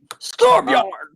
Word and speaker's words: Storbjorn: Stormbjorn. Storbjorn. Norse Force. I have officially figured out how to say it after like an hour of practicing. Storbjorn.